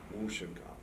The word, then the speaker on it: Mushinkan: How do you pronounce the Mushinkan? Mushinkan? Yes, Mushinkan.